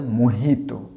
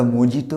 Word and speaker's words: mojito: হয় না, এর উচ্চারণটা হবে মোহিতো, যে উচ্চারণটা এইচ হবে, নট দ্য মজিটো, উচ্চারণটা হবে মোহিতো।